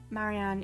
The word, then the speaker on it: Marianne: As you probably gathered from my speech, Marianne is pronounced Marianne, with emphasis on the Ma and An components. Preferably the R's are meant to be rolled, but since I genuinely struggle with rolling my R's, it is not a